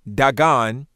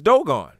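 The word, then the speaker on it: דגן: D-G-N, often pronounced Dagon, but of course we're looking at Dogon. Now, how do we say that this is Dogon?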